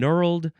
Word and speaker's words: knurled: And so we've got knot and knurled and gnarled, and both knurled and gnarled, they both have a consonant that is silent for some reason.